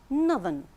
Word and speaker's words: northern: When we change it to an adjective, it becomes northern. Northern. Here we have the sound.